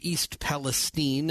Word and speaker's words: East Palestine: So there's a big story that everyone's been following out of East Palestine, as they pronounce it, Ohio.